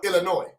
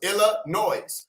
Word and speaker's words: Illinois: Illinois the first thing I thought of was Illinois which is how I wanted to say the